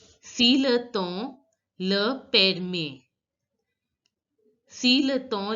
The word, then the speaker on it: temps: Si le temps, you all know that EM is pronounced as O in French, the way you pronounce EN. Si le temps le permet.